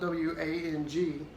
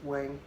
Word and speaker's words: Wang: It's spelled W-A-N-G, but probably a lot of people in America would say Wang. That would be Wang. It's Wang.